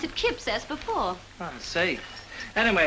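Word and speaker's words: Cuyps: that way how do you say it not cue wipes no you pronounce it kip says before i see anyway it's wonderful even if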